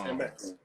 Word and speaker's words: eMeX: Like Jay-Z is Jayz, so it's 2 letters pronunciation, but it's spelled with 4. And so it's eMeX.